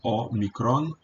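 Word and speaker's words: ómicron: a o o omicron a gente diz em português omicon mas em grego Note que é separado omicron aqui há uma tendência vejam bem de pronunciar o omicron como fechado o micron e as vogais longas serão abertas então por exemplo a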